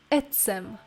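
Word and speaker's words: עצם: bone or self now you might find it hard to pronounce this Su sound from but try to think of the word Pizza you can say pizza who doesn't like pizza right so try to pronounce this C sound from Pizza in ezema foreign the next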